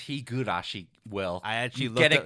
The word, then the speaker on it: Higurashi: goes to Jason for his constant mispronunciation of hiari it's Higurashi will get it correct